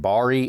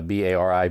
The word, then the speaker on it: Bari: actually took place in uh I'm assuming I pronounced this right Bari Italy on a b-a-r-i Bari Italy and this was on the MSC